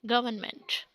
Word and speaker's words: government: this is not government or government this is government and another word is determine determine R is silent and mine is not mine you cannot